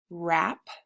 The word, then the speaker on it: wrap: So WR says the W is silent.